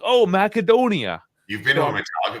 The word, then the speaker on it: Macedonia: __ ] this up it is macadonia because in that language the C's are hard and they're said like